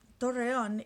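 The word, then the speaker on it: Torreón: went to is called torreon it's spelled t-o-r-r-e-o-n with an accent on the o the lasto and so um torreyon is in a dry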